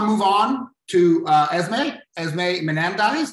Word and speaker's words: Manandise: Now I want to move on to Esmé Manandise. Did I pronounce that correctly? No. Nope. Manandise. Manandise. Beautiful. I don't have okay. Yeah. Okay, but that's okay. People call me so oftentimes merchandise. So, okay, so I'm Esmé Manandise.